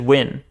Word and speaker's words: Nguyen: Nguyen is pronounced Win? Nguyen? I don't know. Just Win.